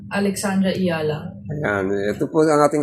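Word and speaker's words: Alexandra Eala: search natin and then syempre ito yung pagbigkas ng kanyang apilyedo pakinggan natin. My name is Alexandra Iala. Alexandra Iala.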